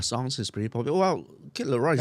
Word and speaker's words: Kid Laroi: Kid Leroy. Kid Leroy. Stay Kid, as in like small kid. Oh, Kid Laroi. Yeah. Yeah, it's spelled a bit funny one. It's not like Leroy.